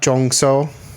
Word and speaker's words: Jong-seo: But like her Jeon Jong-seo is how you would say it.